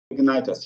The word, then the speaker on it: Ignitos: Ignitos, yeah.